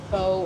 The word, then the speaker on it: pho: Don't say pho, don't say pho, don't say pho, or whatever it is.